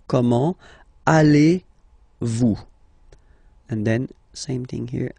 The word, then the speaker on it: comment allez-vous: So the first question, how do you do in French, is comment, so how, comment, allez-vous?